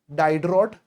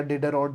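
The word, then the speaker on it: Diderot: बनाया था encyclopedia bye डाइडर the French philosopher 18 century में एंड डाइडर या डिड रट जैसे प्रोनाउंस करना है स्पेलिंग में मिस्टेक मत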